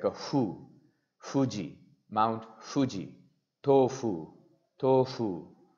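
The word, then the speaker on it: ふ: so it's like a who Fuji Mount Fuji tofu tofu even I still have problem saying this because this sound doesn't exist in Hindi or in English it's a combination of foo and who then comes mommy Moo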